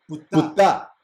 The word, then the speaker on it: Ptah: Porque yo decía Ta, y decía no es Ta, es Ptah, Ptah. Casi una mala palabra, pero en realidad es Ptah, Ptah. No es Ptah, es Ptah.